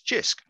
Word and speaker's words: Jisc: the eyes of jisc jisc as we pronounce that as jisc now others may have